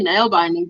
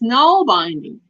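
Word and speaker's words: nålbinding: even pronounce it right I say nail binding but there is no it's no binding nail binding no binding ancient northern European single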